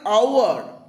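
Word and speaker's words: hour: আবার অ্যান আওয়ার, এইচ দিয়ে শুরু, কিন্তু এইচটা সাইলেন্ট, আ সাউন্ড পাচ্ছি, ভাওয়েল সাউন্ড পাচ্ছি, তাই অ্যান হয়েছে।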